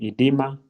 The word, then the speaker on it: edema: main ones we're going to look at is edma. As you can see, some people will spell it with an O. Others will just use the E, but it's the same thing. Edema, then dehydration and over hydration.